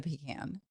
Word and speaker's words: pecan: I'm not a big fan of the pecan. You know, like pecan. How do you say it? Pecan or pecan? Well, I think in the South it's pecan, isn't it? I say pecan pie.